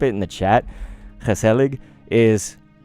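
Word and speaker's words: gezellig: but I'll type it in the chat because helig is spelled g-e-z-e-l-l-i-g people who watch Ted lasso no I got it from that show the Dutch guy that Rebecca met was uh saying the word and his helig is uh basically um it's kind of like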